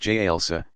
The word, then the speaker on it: jalsa: Sitting on the heels, jalsa, pronounced jalsa, stretching forward toward prostration.